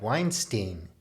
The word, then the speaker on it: Weinstein: is wrong with brett weinstein i always used to call him stein because it rhymes with einstein i think he's pretty